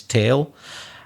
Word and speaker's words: tale: It's such a famous tale. Tale is another way of saying story. Yes, the pronunciation is the same as tail, which is the thing at the back of some animals that they move around.